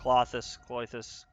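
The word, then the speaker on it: Klothys: Clothus, I think is technically how you say it.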